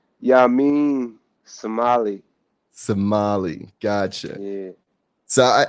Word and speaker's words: Yamin Semali: first questions how do you say your name ya mean somali somali gotcha yeah so i i've always been